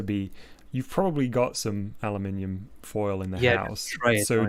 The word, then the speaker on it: aluminium: Aluminium. I will stand by that pronunciation. I mean, technically, I don't know why. It's like it's supposed to have an I at the end, right? Yeah, it's not just aluminum; it's aluminium.